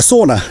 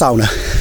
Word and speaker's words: sauna: or as they call it in England, a sauna, but it's actually pronounced sauna.